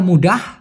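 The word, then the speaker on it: mudah: কিন্তু যদি বলা হয় মুডাহ মানে লাস্টে একটা হের টান থাকে সেটা মানে সহজ বাসনাং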